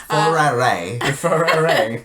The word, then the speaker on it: Ferrero: That's how the professional enthusiast pronounce it. Ferrero.